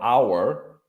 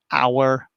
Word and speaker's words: hour: For example, you would say an hour for like a period of 60 minutes because the H sound is not pronounced.